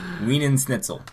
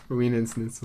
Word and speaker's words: Wiener Schnitzel: Wiener Schnitzel. Wiener Schnitzel.